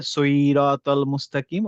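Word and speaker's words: الصراط المستقيم: সি বললে কি হয়ে যাবে? তখন হয়ে যাবে সিন হয়ে যাবে। যেহেতু ওখানে সদ দিয়ে আছে তখন আমাদেরকে আইদার সিরাতাল মুস্তাকিম অথবা সিরাতুল মুস্তাকিম সে টাইপের উচ্চারণ করতে হবে। নট সি হ্যাঁ তাহলে হেভি লেটারের কাজরাগুলা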